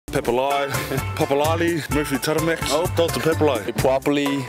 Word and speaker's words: Papalii: Some people say Papalii, Papalii, Papalii, Papalii. I get a lot of weird ones, but it's Papalii.